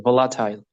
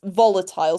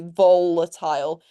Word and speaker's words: volatile: I pronounced it like volatile. Yeah, volatile. So the the strength of the word should be on the first syllable. It should be volatile or for example I